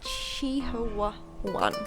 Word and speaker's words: Chihuahuan: It's Chihuahua. That's how it's spelled, but it's not how it's pronounced. Chihuahuan.